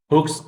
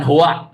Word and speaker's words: hoax: Ini hoax bacanya teman-teman ya, by the way ya. Bukan hoak ya. Ini beda. Itu hoak itu enggak tahu itu. Itu mungkin bahasa Jawa kali, hoak. Yang betul ada hoax.